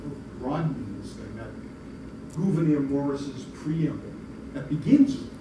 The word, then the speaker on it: Gouverneur: That's Gouverneur Morris, that's the way governors, right? Family of Gouverneur. Abigail Adams used to write phonetically. She gives us the best example of how to pronounce his name.